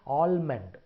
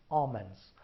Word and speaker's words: almond: The third word, the L is silent there. Don't say almond, it's almonds.